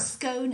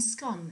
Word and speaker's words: scone: that most people agree the correct way to say scone is when it rhymes with gone rather than bone.